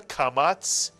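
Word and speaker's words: קמץ: taught you so far here is the p and the kamat both of which make the ah sound as in the word father ah we've also taught you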